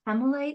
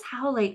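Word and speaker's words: howlite: I just put this hemite like just under your It's right Yeah. How? How?" I knew I was saying it wrong. Yeah. Can we just put this howite under your pillow?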